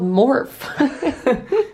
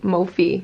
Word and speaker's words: Mophie: He's like, yeah, a company called Morph. Yeah, Morph. That is what it looks like, how you would pronounce it.